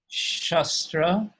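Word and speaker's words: śastra: happen by force uh they wield shastra with a short short a in the word shastra whereas brahmans wield shastra with a long a and as it said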